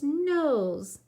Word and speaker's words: nose: Our next word rhymes with pose, nose. Nose. Nose. Remember, we need that silent E for two reasons: to make that S sound like a Z, to make the O say O.